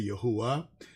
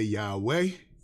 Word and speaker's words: Yahweh: So that's why some of your congregations say Yahuwah. Some of our congregations say Yahweh. Yahweh. It's all these different ways of pronouncing it.